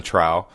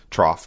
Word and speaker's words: trough: It has six balls in the Trow trough. Trrow, how do you say that? Trough.